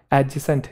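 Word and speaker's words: adjacent: एडजेसेंट नहीं है वो एडजेसेंट है क्या है एडजेसेंट एक वड है एड जॉइनिंग एड जॉइनिंग नहीं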